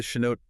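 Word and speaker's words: chanote: You're looking for the Chinote title deed. That's spelled C H A N O T E.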